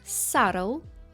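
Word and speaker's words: subtle: D plummer Сантехнік plummer також є ще слово sule sule - це елегантний тонкий наступна група слів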